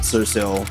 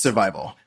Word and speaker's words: Sur5ILL: It's your boy, Survival, not Sursil, and not any other way that you would pronounce it. It's Survival.